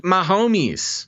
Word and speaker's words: Mahomes: It's Patrick Mahomes. Yeah, there you go. Because he's my homie.